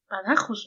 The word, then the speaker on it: Badajoz: Badajoz, ¿no? Badajoz. Sí, porque termina con Z. Si fuera Badajoz, tendría que llevar acento.